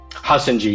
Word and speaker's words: Hassonjee: Hassonjee, yeah.